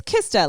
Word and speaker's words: Kista: do you spell it it's kista i i read it krista the first time i read it it's kista like the katy perry song i kissed a girl kista wait did you